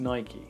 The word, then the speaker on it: Nike: they'd say and by the way it is pronounced Nike shoe dog himself Phil Knight said that so